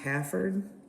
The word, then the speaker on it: Haverford: Looks like Haverford, but I think it's pronounced Hafford.